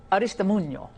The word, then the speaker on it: Aristimuño: I love saying it, Aristimuño. I like saying it correctly.